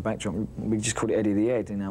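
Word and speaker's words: Eddie the 'Ead: we just caught it Eddy the ad now we don't pronounce the H back so it's not Eddy of the edge you know and that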